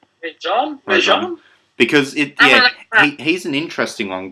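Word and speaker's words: Gomez-Rejon: Rajon? Because he's an interesting one, because he started off as like an assistant to guys like Scorsese and stuff. Right, okay, that's Alfonso Gomez Rejon.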